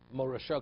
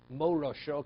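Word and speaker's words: מורשה: So if you pronounce the shin like a sin, it would be morasha.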